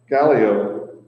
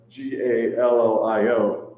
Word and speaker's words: Gallio: as the tenure of Gallo. I found out how to pronounce that. I kept tripping over that. G A L L I O is Gallio.